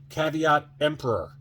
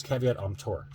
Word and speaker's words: caveat emptor: So buyer beware, caveat emperor. Is that how you say it? No, it's caveat emptor.